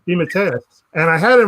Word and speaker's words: DeMatteis: How do you pronounce the last name? DeMatteis. DeMatteis.